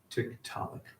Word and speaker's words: Tiktaalik: Since Inuit elders had granted them access to their Arctic lands, they consulted the Inuit, who gave it an easily pronounced name, Tiktaalik.